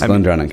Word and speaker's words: GlenDronach: I mean, you got Glendronach. Is that the right way to say that? Yeah. Yes, Glendronach, yeah. So you got a great arsenal of stuff to go on.